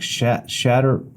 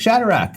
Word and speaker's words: Shadrach: Like I was trying to pronounce Shadrach, Meshach, and Abednego, and I'm like Shatter, and then the kid like Shadrach, like they knew, I didn't know, and so I kind of fumbled my way through teaching.